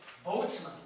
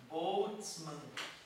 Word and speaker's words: Boltzmann: Constante, se bem que eu devo pronunciar errado, né? Constante de Stefan Boltzmann. Olha que bonito. Boltzmann.